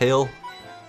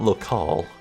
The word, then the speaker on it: locale: Is that how that's pronounced? It's Loale. It's not Lal. Yeah, I think it is Loale.